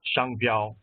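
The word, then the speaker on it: 商标: very short Chinese lesson our domain extension is pronounced Shango which means trademark and is written in the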